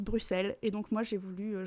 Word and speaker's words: Bruxelles: du coup il ya beaucoup de gens qui disent bruxelles alors qu'en fait ça se prononce bruxelles et donc moi j'ai